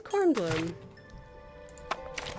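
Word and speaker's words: Kornblume: Bloom there corn Bloom her name is corn Bloom I finally learned how to pronounce it I'm also really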